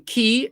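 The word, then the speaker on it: cay: lock and key pigeon key and that key when we when we talk about pigeon key lime key maiden key that key is spelled c a y so pidgeon key lime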